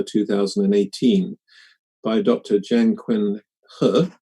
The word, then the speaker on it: He: by dr jan quinn her it's spelt h e but pronounced her in mandarin and so um a